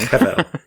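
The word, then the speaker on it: הבל: And so this is where the transliteration of the Hebrew words into English is written with a B, but actually it should be pronounced as a V. So actually Abel should be something like Avel.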